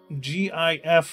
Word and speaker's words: GIF: Of course, it's GIF with a hard G.